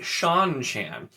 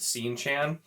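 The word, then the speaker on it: Seanchan: small one but and then we have the sean chan which this one annoys me because of all of the like names that are pronounced differently than they're spelled you're gonna tell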